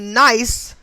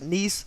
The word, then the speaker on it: Nice: 2016 and it is spelled nice so if it's supposed to be pronounced nice france i'm not sure but i'm going to say nice france okay in this incident